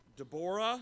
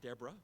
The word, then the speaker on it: Deborah: in terror in harassment Tabora that's how I pronounce that I know not what you're used to has an 0 there it's not Deborah it's an Eau de